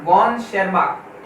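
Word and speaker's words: von Tschermak: यहाँ पर T silent है, ध्यान रखना, वॉन शेरमार्क, ठीक है।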